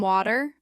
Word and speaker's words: water: The T in the middle of words often softens. For example, water with a light T. At a cafe, can I have some water?